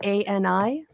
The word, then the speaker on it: Ani: Ani is A-N-I. Yeah. And then DeFranco's with an I. If you start to type it'll come up. Is it German? No. She's American, but it's just pronounced Ani.